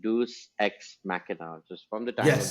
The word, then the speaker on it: Deus ex machina: Story telling में क्या कहते हैं, डिवाइस होती है जिसका अक्सर मजाक उड़ाया जाता है, which is pronounced as like Deus ex machina, just from the time of the Yes.